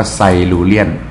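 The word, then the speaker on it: Silurian: ยุค ไซ ไซลูเรียน ไซลูเรียน อ่าน ว่า ไซลูเรียน นะ ฮะ อ่า ยุค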